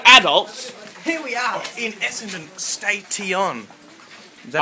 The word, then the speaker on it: Essendon: Here we are in Essendon Station. Is that how you pronounce it?